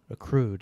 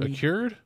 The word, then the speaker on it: accrued: Accrued, yeah. Isn't that the word? What word are you trying to say? Like, spell it. A-C-R-U... Yeah, A-C-C-R-U... Accured?